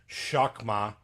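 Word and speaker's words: חכמה: Um so the word wisdom is uh it's pronounced it's pronounced pronounced shakma.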